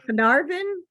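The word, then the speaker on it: Caernarfon: John Paul ringos right next but I can't pronounce the word c-a-e-r-n-a-r-f-o-n arnathon Castle's backyard uh Ireland it's whales oh canarvin oh yeah yeah sorry wow nice nice stuff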